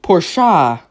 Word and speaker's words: Porsche: a Mercedes, Bentley, Audi, Porsche. Pretty sure that's how you pronounce it. That's how everybody pronounces it, right? It's not a Porsche, it's a Porsche. It's supposed to be fancy.